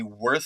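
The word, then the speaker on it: Würth: pronounce it w r I think the W is a v the W's a v in German like the yeah it's I haven't even looked up with verth is should we no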